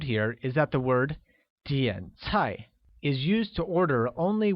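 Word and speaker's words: 点菜: its height done very good similarly order becomes DN high which uses a falling rising tone on the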